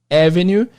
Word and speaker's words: avenue: Para lembrar da pronúncia de avenida, lembra do nome Evelyn. Evelyn é um nome comum em português, né? Evelyn. E tem a mesma entonação de avenida, avenue. Muitos alunos erram a entonação, então é avenue, Evelyn.